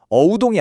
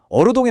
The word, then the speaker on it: 어우동: 그러니까 실제 발음은 어우동이 아니라 어르동에 가까웠던 거죠.